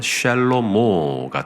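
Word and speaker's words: שלמה: 그러면 솔롬 샬롬오 샬롬오 그래서 히브리어 발음으로 하면 샬롬모가 됩니다. 샬모 그게 바로 솔로몬입니다.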